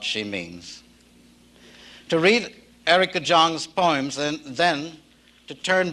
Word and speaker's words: Jong: darkness and also that my name is pronounced Jang for those of you who are wondering I wasn't born with